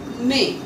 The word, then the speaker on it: mais: Now the rule number 8 says that AI and ER has a sound A. For example, par exemple, lait, LAIT becomes lait, MAIS becomes may.